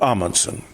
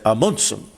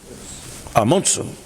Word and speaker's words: Amundsen: Now, I'm told by my Norwegian wife, Kari, to always pronounce his name properly. It's not Amundsen. Apparently I've got to say Amundsen. Amundsen.